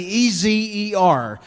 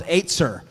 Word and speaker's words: ezer: that word, it's actually E-Z-E-R. And I called it Ezer for a long time, but it's not. It's actually pronounced Aetzer, right? Aetzer. E-Z-E-R, pronounced Aetzer.